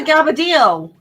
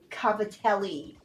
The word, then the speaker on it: cavatelli: What's a gavadillo? You've never had gavadillos? All right. It sounds like gavadillo. Americans pronounce it cavatelli.